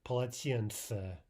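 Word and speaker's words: полотенце: The yeah will typically sound more like an ah. So let's practice the word for towel, polatiense. Polatiense.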